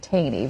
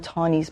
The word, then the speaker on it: Taney: Now, people are going to look at that name and always want to pronounce it Taney, but the common pronunciation is Taney, correct? I think Taney is correct.